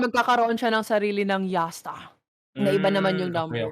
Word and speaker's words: Jasta: Yasta. How do you- It's just how it's pronounced. Jasta. Di ba Josta. yung J sa kanila ay Y?